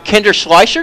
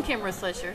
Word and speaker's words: Kimber Schleicher: We got Kinder Schleicher. Did I pronounce it right? That's close. It's Kimber Schleicher.